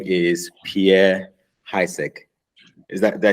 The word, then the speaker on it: Pierre Haessig: And his name is Pierre Haessig.